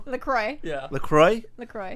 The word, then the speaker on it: LaCroix: X is silent. Oh, is it? Yes. Like LaCroix? LaCroix.